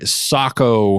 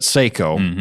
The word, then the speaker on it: Sako: was going to say is I mentioned the Sako rifles ah the Sako Sako or as us